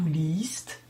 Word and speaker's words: liest: Un I rallongé d'un E se prononce I. Nous dirons donc ich lese, du liest, er liest.